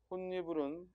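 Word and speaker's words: 홑이불: 혼니불은 일단 발음이 맞나요? 맞고, 혼니불에 일어난 음운 변동은 음절의 끝소리 규칙이 일어나고, 그렇죠? 홑이 홑하고 디귿으로 발음이 될 거고, 그 다음에 비음화가 일어나고, 그렇죠? 니은으로 바뀌었으니까 또 첨가가 포함됐을 거다. 맞죠? 따라서 혼니불, 자, 이 혼니불도 그 순서에 따라 표기를 하면 홑, 이불, 홑니블, 혼니블 이렇게 과정을 보여주면 그렇죠?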